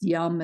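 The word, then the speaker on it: Yam: this one is pronounced yum as in yummy and this one enhances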